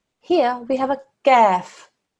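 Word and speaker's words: كاف: Here we have a kaf. Kaf is pronounced from a different place in the mouth. Your tongue touches the bridge of your mouth in the middle. Gaf. It's a thin sound.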